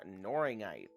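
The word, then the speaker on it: Knorringite: Okay, our next one is called Noringite. Noringite. That's spelled with a K.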